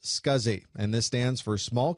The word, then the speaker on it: SCSI: able to use it the abbreviation SCSI is pronounced scuzzy and this stands for